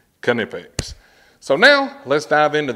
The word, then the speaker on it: Knipex: canipix so we can put all the myths to bed about having a silent k and this and this and this and this and this you heard it straight from the horse's mouth canipix so now let's dive